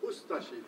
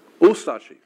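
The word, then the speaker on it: Ustaše: We pronounce it ustashi. We pronounce the U and de-emphasize the ashi. Ustashi.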